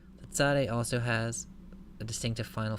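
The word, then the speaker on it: צדי: alphabet is the Sade it's pronounced like English TS English we don't normally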